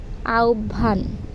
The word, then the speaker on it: আহ্বান: যায় সেটি হচ্ছে খেমটা আহ্বান এর প্রকৃত উচ্চারণ কোনটি আভান আ ও ভান শব্দ